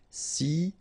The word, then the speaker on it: silencieux: Final X not pronounced, okay? This part here will be pronounced like cieux, okay? Then you get silencieux.